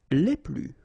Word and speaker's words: les plus: Okay, so keep in mind that I don't pronounce this final S here, so we get le plus, la plus, les plus.